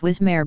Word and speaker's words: WSMR: White Sands Proving Grounds was later renamed to White Sands Missile Range, or WSMR, pronounced Wismare by nearby residents.